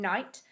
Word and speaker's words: knight: The K becomes a silent letter if it comes before an N. That's the rule for the silent K. That means we can't hear the letter K when we say the word.